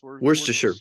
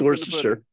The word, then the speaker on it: Worcestershire: You have no problem pronouncing Worcestershire sauce. Worcestershire. Yeah, right. Yeah, there you go. There's it's Worcestershire.